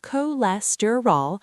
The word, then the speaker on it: cholesterol: It's pronounced cholesterol with the stress on less.